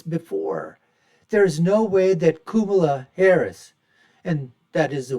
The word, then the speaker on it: Kamala: There's no way that Kamala Harris, and that is the way that her name should be pronounced, I've been told by Indian folks. It's not Kamala or Kamala, it's Kumalu.